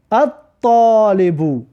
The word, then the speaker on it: الطالب: الطالبو، الطالبو ببین لام تلفظ نکردیم، برای حرف تا حرفی شمسی می باشد.